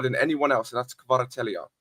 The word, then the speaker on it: Kvaratskhelia: It's called Kvaratskhelia.